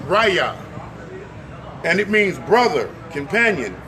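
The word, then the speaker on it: רֵעַ: The word neighbor means it's a strong 7453, and it's pronounced raya, and it means brother, companion, fellow, friend, husband, lover, neighbor, another.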